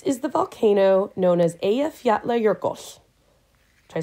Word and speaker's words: Eyjafjallajökull: pronounce that is because it is simply three words: island, mountain, glacier, strung together.